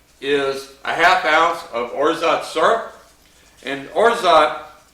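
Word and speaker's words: orgeat: a half oz of orot syrup and orot it's spelled o r g e a t but it's pronounced orot it's French and it's like an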